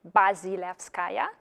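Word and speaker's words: Bazilevskaya: help you out with pronouncing my surname which is like really long and terrible and a challenge to pronounce and maybe 1% of people do it right from the very beginning so it's buzzy laughs kaya and you can forget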